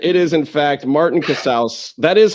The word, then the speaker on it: Casaus: It's Cass. It's not Cassas. It's not Casius. It's not rhymes with house like you're in the house of Cas, y'all. That's what house of Cass. It rhymes with house.